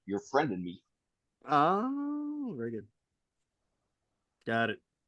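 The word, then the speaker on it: Yürf Rendenmein: it's pronounced "your friend and me."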